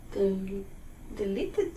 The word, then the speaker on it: deleted: Deleted. Very good. Deleted, because delete ends with that T, mm-hmm. So we get the extra syllable, deleted. Deleted.